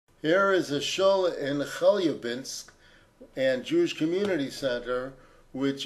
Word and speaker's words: Chelyabinsk: Here is a shul in Chelyabinsk and Jewish Community Center, which is also under the supervision of Lubavitch. Its director is Rabbi Meir Kirsch. Of course, the Russians will pronounce it Chelyabinsk.